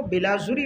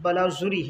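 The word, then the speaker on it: بلاذری: کم 80، 279، بلاذوری، بعض اس کو بلاذوری پڑھتے ہیں، لیکن معروف اور صحیح تلفظ بلاذوری ہے۔ ان کی 2 کتابیں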